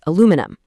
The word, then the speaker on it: aluminum: In the UK, they literally add an extra I and a whole extra syllable saying aluminium. But over in North America, the spelling is shorter and the stress completely shifts to make it aluminum.